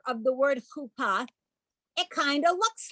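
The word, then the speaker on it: חופה: And the bride and the groom stand under a chuppah. And some people call it a chuppah. That's the Yiddishized version of that word.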